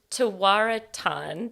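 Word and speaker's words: Tewaaraton: She's a 3-time IWLCA National Coach of the Year, has mentored 3 Tawaraton, did I say it right?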